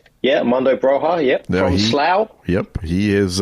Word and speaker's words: Broja: Broha, is that how you pronounce his name? Yeah, Armando Broja, from Slough.